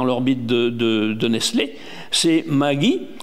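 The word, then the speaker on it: Maggi: C'est Magie M A G I peut-être prononce même autrement hein que Maji.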